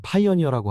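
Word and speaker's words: Pioneer: 이름 자체는 러시아식 발음으로는 파오네르라고 하는 것 같고 영어식 발음으로는 파이어니어라고 하죠.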